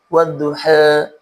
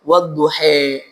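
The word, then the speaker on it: والضحى: Amr Albasri itu membacanya dengan imalah sugra wadduha ya bunyinya bunyi bunyi e. Dan Imam Hamzah al-Kisai juga Imam Ali al-Qisai itu membacanya dengan imalah kubra wadduhe. Adapun bacaan kita atau bacaan mayoritas wad duha ini ditandai dengan adanya alif layinah alif bengkok.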